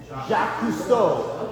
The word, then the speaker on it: Jacques Cousteau: Jacques Cousteau.